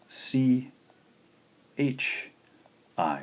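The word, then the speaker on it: ち: looking at here is actually a combination of c h i so we'll pronounce this one as chi chi to write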